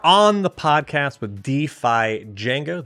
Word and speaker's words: Django: the podcast with defi Jango the D is silent how you doing welcome